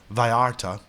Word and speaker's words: Vala: this place called Vara it's spelled Vala but they pronounced it Vara and bananas were still